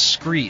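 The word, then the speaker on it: Skre: my proven gear is scree scree is spelled s-k-r-e it's kind of a play on the word from scree rock found at the bottom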